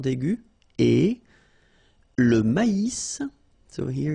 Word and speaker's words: maïs: L'avoine, le blé, here, accent aigu, et le maïs. So here you get this tréma, so maïs, maïs. And then you pronounce the final S, maïs.